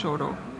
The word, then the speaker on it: Chouteau: Et une rue qui s'appelle Chouteau. Ce sont des noms français qui se prononcent Choro.